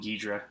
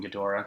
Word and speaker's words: Ghidorah: job on Mothra and King Ghidorah or King Ghidorah depending on how you how you pronounce it he's just a brilliant